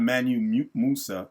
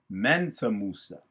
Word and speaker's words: Mansa Musa: And it's not Manu Musa, it's Mansa Musa. She don't even say it right.